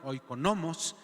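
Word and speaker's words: οἰκονόμος: Pero también en este llamársele mayordomo, que se dice en la palabra en el griego, la pronunciación se llama oikonomos, ¿sí?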